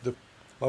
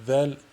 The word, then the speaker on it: ذ: L'erreur à ne pas faire est de la prononcer del, qui donne a'oudou, ou la prononcer zay, qui donne a'ouzou. Donc il faut tout simplement la prononcer dhal, a'oudou.